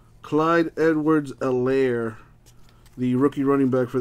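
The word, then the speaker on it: Clyde Edwards-Helaire: kid's name is uh clyde edwards a lair the h is silent clyde edwards elaire the rookie running back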